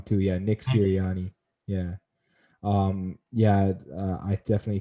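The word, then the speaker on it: Sirianni: and then uh the guy down the uh syrian i know i keep getting his name wrong too yeah nick ciriani yeah um yeah i definitely think that mccarthy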